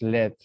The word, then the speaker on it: lead: Well, this verb is lead. As a noun is pronounced led. Lead, led.